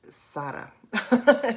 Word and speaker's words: Sarah: yesterday's post about um european pronouncing of my name it's sarah i'm just playing with